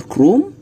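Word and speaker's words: Chrome: جوجل كروم جوجل كرووم ايه جوجل كرومي اتش هنا بتتنطق جوجل كروم ده عباره عن ايه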